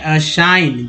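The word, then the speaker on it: assign: है इनवेरिएबिलिटीज, नेक्स्ट है अशाइन। जी हाँ, तो ये जी जो है यहाँ पर जी साइलेंट रूप से आया है, जी साइलेंट रूप से आया, इसलिए इसका उच्चारण नहीं होता है, जी एन से न होता है।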